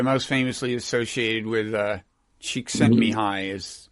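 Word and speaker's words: Csikszentmihalyi: famously associated with uh cheeks and me high pronunciation of that formidable last name chick sent me high yeah so yes and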